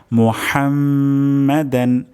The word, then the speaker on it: মুহাম্মাদান: হা উচ্চারণ হবে গলার মাঝখান থেকে।